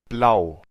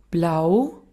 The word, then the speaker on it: blau: primero del alemán la plau plau y ahora la pronunciación austriaca plau plau pl pueden ver que entre estos dos la diferencia está en como la prolongación del dión el austríaco promedio